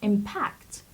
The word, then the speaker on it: impact: The next word is impact. Impact is a verb, and the stress is on the first syllable, impact.